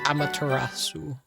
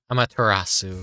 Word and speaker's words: Amaterasu: Amaterasu, I bet. Trying to remember how to pronounce her name correctly. Amaterasu. I think that's the proper pronunciation.